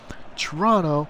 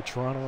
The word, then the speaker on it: Toronto: Toronto, our first O is silent.